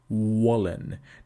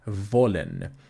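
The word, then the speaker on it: wollen: lip now volun whereas in English you protrude your lips and you say Wallen now we don't want to save that we want to say vollen because it is labia Dental now here you may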